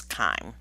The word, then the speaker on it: chyme: what we call chyme spelled with a y i think there are a couple places later where it is misspelled as chime but it's kind and then the third